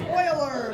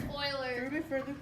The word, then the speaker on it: Euler: Euler, which is pronounced Euler, but there we go. Yeah. It's Euler.